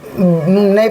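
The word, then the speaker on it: knew: जैसे कि के एन ई डब्ल्यू क्या हो जाएगा? नी तो के के एन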